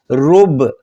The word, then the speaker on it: ربع: کا لفظ جو ہے رب، اصل میں ربع ہے لیکن عین کو ہم تلفظ نہیں کرتے، ہم کہتے ہیں رب، تو وہ چوتھا حصہ کہلاتا ہے، چوتھائی کہلاتی ہے.